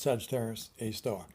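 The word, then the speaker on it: Sagittarius A*: center ours is named Sagittarius a star or ser a asterisk for short but pronounced Sagittarius a star Sagittarius a star is a 4.1 million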